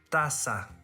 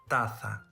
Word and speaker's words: taza: spanish in latin america first in spain the letter z is pronounced as th as an english word thing but in all other regions is pronounced as s in spain the letter c before e or i is also pronounced as eh but in all other regions is pronounced as s for example corazon corazon tasa tata barcelona the second difference which